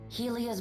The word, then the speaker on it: Helia: he has to say helia's birds shatter anxiously among themselves I keep pronouncing that as highly as Helia yeah she's she's probably